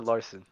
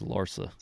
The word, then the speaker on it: Larsa: how you say it Larsa or Larson it's Larsa I'm not gonna give